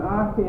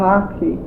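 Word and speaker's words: akee: everything, and we've got an archie out there from North Africa. A what? An archie. How do you spell it?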